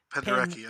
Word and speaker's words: Krzysztof Penderecki: While listening to Krzysztof Penderecki? Is that how you say it? Krzysztof Penderecki. Penderecki, okay.